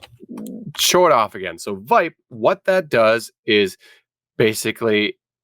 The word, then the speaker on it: vipe: VIPE. VIPE. VIPE. Vippy. I think it rhymes with pipe.